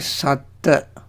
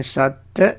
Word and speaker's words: Satta: See the difference between Satta and Sattha. Satta, S-A-T-T-A. Sattha is S-A-T-T-H-A. When we talk about the Buddha, we use the spelling, when we write it, we use S-A-T-T-H-A and pronounce as Sattha, emphasis on last T-T-H-A. Stress it.